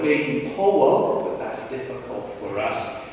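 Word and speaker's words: Baden-Powell: person didn't forget about Lord B Powell or as he pronounced his name Lord Ben po but that's difficult for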